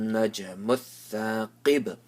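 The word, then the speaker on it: النجم الثاقب: So mat-tariqun najmuth thaqib. Pronounce the qaf with the full mouth and qalqala on the ba.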